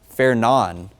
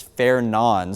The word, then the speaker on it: Fernand: I've been doing some digging and watching other meteorologists and National Weather Service employees pronounce it as Fernan. So obviously it looks like Fernand. The D is silent.